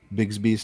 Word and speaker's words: Bixby: the soup that's at Bigsby's Tavern. Is it Bixby or Bigsby? It is spelled Bixby, but pronounced Bigsby.